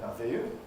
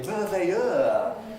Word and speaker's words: merveilleux: C'est merveilleux. You can't say merveilleux, really, in an English sort of way.